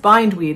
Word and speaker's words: bindweed: bind but of course being English it's two words put together and it just never